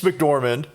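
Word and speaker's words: McDormand: so Francis MC I Dorman okay Francis mcdorman right is a great actress and I will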